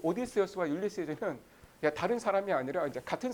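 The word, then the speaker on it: Ulysses: 예, 근데 여러분 그 이 오디세우스는 이제 그 그리스어 이름이고 라틴어로는 그 울릭세스라고 발음을 했는데 영어 발음이 율리시즈입니다. 예, 그래서 여러분 그 오디세우스와 율리시즈는 다른 사람이 아니라 이제 같은 사람이에요.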